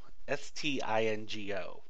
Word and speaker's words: Stingo: The third beer that was offered to us was their Yorkshire Stingo, Stingo, rhymes with bingo.